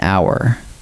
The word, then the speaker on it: hour: The H is silent, so what your ear actually hears is a vowel sound, ow. Follow the sound, not the letter. The answer is an hour.